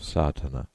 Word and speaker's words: Sadhana: may be added about the pronouncing of satana the accent Falls decisively on the first a which has the broad sound of the letter contents one the relation